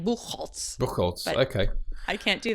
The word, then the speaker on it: Bucholtz: here we are kitty boo Holtz boo Holtz yes Holtz is um I was just saying to offer not something I would have read your name and immediately pronounced it like that but yeah well what